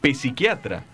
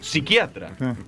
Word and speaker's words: psiquiatra: para su información que no se dice pepsiquiatra sino psiquiatra porque la pena se pronuncia quiere dejarle algún mensaje